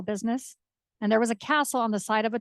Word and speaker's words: Kastl: fairy tale castle, but my last name is Kastl, Kastl, that is often misspelled, but it's pronounced just like Castle.